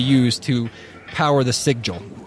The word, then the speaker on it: sigil: use to power the sig jewel that's what how you pronounce it sigil s-i-g-i-l yeah sigil so that's the symbol